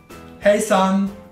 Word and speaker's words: hejsan: La H in svedese va pronunciata sempre, è aspirata come in inglese.